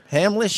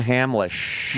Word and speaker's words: Hamlisch: that how that how you say his name Hamlet Marvin Hamlisch Marvin Hamlisch past the way we were the way we